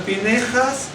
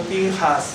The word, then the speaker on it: Pinjas: La pronunciamos como E en muchísimos casos cuando los eskenazis no la pronuncian, ¿de acuerdo? De acuerdo. Por eso dice Pineja, por eso les digo, puede encontrar Pinejas o Pinjas, ¿no es cierto? Bien, no pasa absolutamente nada.